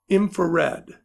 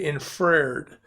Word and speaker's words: infrared: going okay so our next form is infrared okay unfortunately some students say it wrong and they say inferred okay and so night